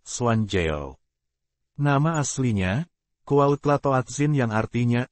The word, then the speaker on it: Juan Diego: Juan Diego Cuauhtlatoatzin, juga dikenal sebagai Santo Juan Diego, dalam pengucapan bahasa Spanyol, Juanjeo.